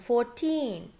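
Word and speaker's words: fourteen: know is for the numbers that end in teen we stress the second syllable so when we say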